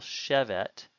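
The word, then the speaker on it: שֶׁבֶת: construct of yash of note that the stress is on the first syllable chevette and then some there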